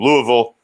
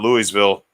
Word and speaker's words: Louisville: Pete from Louisville, not Louisville. It is Louisville. And I didn't even get the in there. I'm still pronouncing it wrong.